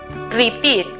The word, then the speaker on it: repeat: La siguiente sílaba es una combinación donde encontramos la vocal E con la A juntas en la misma sílaba. Eat. La pronunciación para la palabra repetir es repeat.